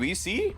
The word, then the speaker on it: Weiss: Alright, Weiss is pronounced VC. That is gonna be very difficult for me because it doesn't look like VC, does it?